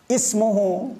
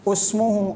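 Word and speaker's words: اسمه: ini Ibnu bukan ubnu juga ismuhu bukan usmuhu orang Arab biasanya dibaca ismuhu yang ketiga imruun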